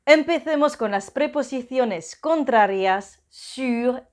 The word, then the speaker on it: sur: Se pronuncia sur, no sourd, porque sourd en francés significa sordo. Sur es el sonido U y para hacer un U empezamos pronunciando una I y luego ponemos los labios en círculo.